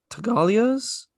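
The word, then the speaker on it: Tattaglia: I also liked how the original muscle, the one that works for Vito, Luca, he goes to Salazzo and the Tagalias. The G is silent.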